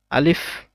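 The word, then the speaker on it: ألف: টান এটা হচ্ছে আলিফ আলিফ টা বলার সময় আলিফ আলিফ এরকম কিছু বলা যাবে না আলিফ বলতে হবে আলিফ বলার সময় একটু ফা টা উচ্চারণ করতে হবে আলিফ মুখ দিয়ে বাতাস একটু বের হবে আলিফ তারপরে বা এক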